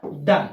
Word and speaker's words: Donne: तो ध्यान रखिएगा, एज ऑफ डन। देखिए स्पेलिंग में साफ लिख देता हूं यहां पे, DONNE।